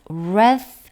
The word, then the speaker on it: wrath: All the wrath 하면 W는 묵음이고요. TH는 무성음 wrath입니다.